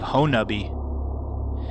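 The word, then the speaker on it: Honobia: Oklahoma in Leflore County near the community of hone uh be if you sound out how it is spelled it would sound like PO no BIA but the local pronunciation is pono B on my first expedition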